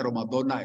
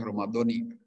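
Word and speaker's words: رمضانَ: Syahri Romadona habis tanah bacanya Romadhona itu tidak boleh Romadhoni ini malasan ilmu bahasa saja Romadhona habis sana Abdul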